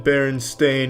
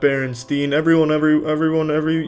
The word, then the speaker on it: Berenstain: It's always been Berenstain, not Berenstein. They all want to pronounce it, but it's Stain. Ever since I was a kid, they call me. It's Stain, though.